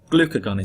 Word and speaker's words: glucagon: level starts to decrease glucagon is released now I remember that by saying glucose is gone so it's glucagon okay so you get the